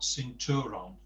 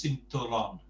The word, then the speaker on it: cinturón: So it's not cinturón, it's cinturón. We've got Okay, that yeah. accent on there. That always shows you where the stress needs to go.